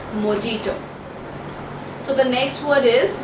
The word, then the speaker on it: mojito: wrong is mojito now the correct pronunciation for this word is j would be silent in this word so it is mojito so the next word